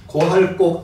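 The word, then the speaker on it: 告: 굴곡리정 고기라고 제가 있는데 그냥 고라고 읽으셔도 됩니다 고할 곡 아래 읽고 뭐 그럽니다 고할 곡 그 포고한다고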